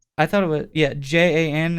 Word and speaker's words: Jan: thought it was yeah j-a-n is how you say it yeah i think it's jan it could be john john stoneroot so he